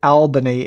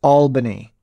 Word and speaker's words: Albany: And he corrected me that it's pronounced Albany. And he's right. Ricky mentioned that it is pronounced Albany. So why they didn't go ahead and spell it with two L's to help illiterate people